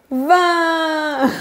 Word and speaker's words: vin: Par contre, la boisson que les Français adorent, c'est le Vin.